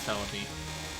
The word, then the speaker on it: Celebi: Where were you when you realized that Cerebi was just the way a Japanese person would pronounce Celebi?